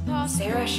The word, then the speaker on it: Saoirse: Saoirse Ronan, oh, I said it, and I didn't mess it up a single time.